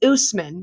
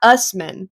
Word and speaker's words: Usman: their Partners names correctly Usman is a two- syllable word that uses entirely the same sounds as English his name is Usman not Usman or maybe she's just